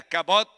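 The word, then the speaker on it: כבוד: Yo no estoy diciendo que la estoy pronunciando en hebreo, pero esa palabra en nuestro idioma suena de esa manera, kabot, y esa palabra significa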